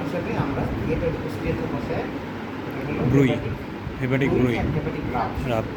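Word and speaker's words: bruit: তাহলে হার্টে যদি সেম জিনিসটা হয় মারমার ভালভের থেকে, আর পেরিফেরিতে যে কোনো জায়গায় বলে ব্রুই বলে। টি আছে নামের শেষে, ওটা উচ্চারণে আছে, ব্রুই।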